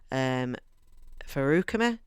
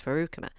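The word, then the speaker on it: Feruchemy: He has this ability, which is called, if I remember rightly, Farukami, if that's how you say it, Farukami. It's like Faru chemistry. It's like chemistry, Faru chemistry.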